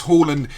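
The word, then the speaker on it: Haaland: uh very nice uh on the pitch indeed harland or holland i've heard heard it pronounced by um native speakers holland is absolutely incredible he is obviously uh some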